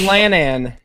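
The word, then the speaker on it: Llan: no so fall asleep this this word Lan spell l l a n in the Welsh language when you put two L's together it makes this sound so it's it's lanan yeah it sound how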